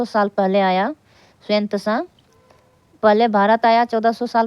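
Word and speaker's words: Xuanzang: स्वयं त्सांग इसका जो है शुद्ध नाम उच्चारण अगर लेंगे स्वयं त्सांग तथा अन्य तीर्थयात्रियों ने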